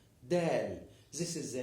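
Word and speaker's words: دال: look at this shape this ship is called del this letter is called del del this is the name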